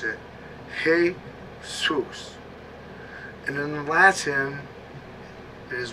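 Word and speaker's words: Jesús: s e u s but in Spanish they pronounce it hey Zeus and in Latin it is referred to as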